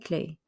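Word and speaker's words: clés: do look for nu clay we are looking for the keys don't pronounce the s don't pronounce the s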